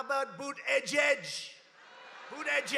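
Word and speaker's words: Buttigieg: these guys you have these people how about boot edge edge who that judge they call the mayor Pete you know why because nobody can pronounce his name nobody has any idea who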